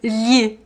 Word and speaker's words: lhe: Lhi, lhi, You have to slide. Lh The The You have to touch your tongue on the top of your mouth and then slide it.